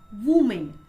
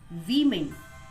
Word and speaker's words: women: The next word is most of the people say woman, but it's not woman. The correct pronunciation of this word is women. It's women, mahila किंवा स्त्रिया.